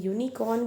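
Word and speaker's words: unicorn: वो है हमारा vowel but when we pronounce it right when we pronounce it at that time the sound of यू इज़ not coming right what is the sound coming that is ऑफ वाई यूनिकॉर्न right और ये क्या है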